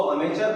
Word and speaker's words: amateur: इसको अमेचर पढ़ते हैं।